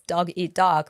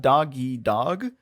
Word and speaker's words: dog eat dog: but like it's not doggy dog is Dog Eat Dog it's Dog Eat Dog there's a very small pause there a glotto stop you